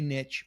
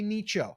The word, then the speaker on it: niche: We're always going to pick a niche or a niche or a nicho, however you want to call it. I say niche because it rhymes with riches are in the niches.